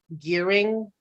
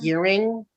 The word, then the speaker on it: Goring: So I asked her, I believe it's pronounced Gearing, Anna Mhm. Gearing, Yeah. despite the spelling.